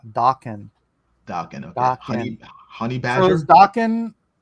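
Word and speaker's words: Daken: It's Japanese, so it's pronounced Dakin.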